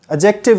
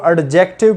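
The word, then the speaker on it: adjective: हम इसको एडजेक्टिव पढ़ते हैं, जबकि इसमें डी साइलेंट है। अब इसको पढ़े एडजेक्टिव। The correct pronunciation of this word is एडजेक्टिव, ना कि एडजेक्टिव। इसको आपने एडजेक्टिव पढ़ना है, एडजेक्टिव नहीं पढ़ेंगे, डी को साइलेंट कर देना है।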